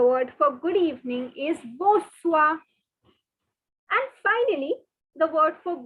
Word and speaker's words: bonsoir: different colored pen and please note the n is silent the r is silent so it's not bonsoir or anything it is okay i know i can't